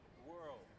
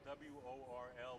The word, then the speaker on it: Worl: Worl. It's spelled W-O-R-L, but it's pronounced like whirl or twirl.